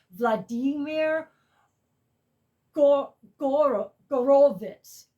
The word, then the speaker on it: Horowitz: This, um, so, it's the last, uh, recording and uh Vladimir Horowitz, I found out it's pronounced Vladimir Go- Gor- Gorowitz. Vladimir Gorowitz passed away right after this.